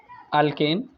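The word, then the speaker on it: alkane: लेते हैं, ठीक है, अल्केन। अल्केन के बारे में पढ़ते हैं, इसके बारे में प्रैक्टिस कर लेना तुम लोग। अल्केन्स, अल्केन्स, E-N-E नहीं, अल्केन है, A-N-E, प्रोनाउंसिएशन पे ध्यान दो, A-N-E में इसका मतलब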